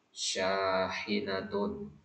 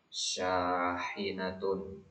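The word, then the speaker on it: شَاحِنَةٌ: Syahinatun. Haknya tipis. Syahinatun.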